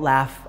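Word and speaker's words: LAF: Our culture is something that we like to call laugh. We spell it L-A-F, but we call it laugh on purpose.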